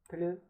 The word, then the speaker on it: plus: While comparisons in French are formed by placing the word plus, plus, pronounced in French, plus, which means more, and